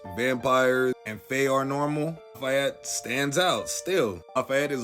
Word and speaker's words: Lafayette: Today, we're going to be talking about True Blood's favorite medium, Lafayette Reynolds, or how they pronounce in the show, Lafayette.